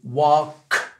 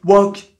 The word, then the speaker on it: walk: bien wok donc c'est WAC ok donc et puis il faut que ça vienne de la poitrine tu vois c'est pas wok wok même si tu fais le cas à l'américaine wok non non regarde bien cette